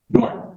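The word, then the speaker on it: Doran: Spelling of the last name is D O R A N. And it's pronounced Durant? Durant.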